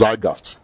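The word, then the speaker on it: zeitgeist: and I guess because zygast as the Germans who you pronounce it among the Nigerian youths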